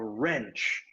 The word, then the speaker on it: wrench: called a wrench a wrench now a wrench also has a silent letter which one would it be w okay good w is silent okay a wrench is